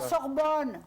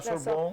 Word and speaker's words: Sorbonne: La Sorbonne. La Sorbonne.